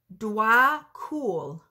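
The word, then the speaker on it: Djwhal Khul: Pronounced Dwar Kul, known as the Tibetan, is a Tibetan Buddhist master.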